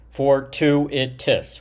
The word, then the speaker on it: fortuitous: What's what is the definition of fortuitous? Fort to itis, right? Fortuit, you know, four syllables there.